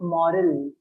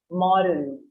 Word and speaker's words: moral: Just one thing, the pronunciation of moral. Morals. It has an all sound in it, moral.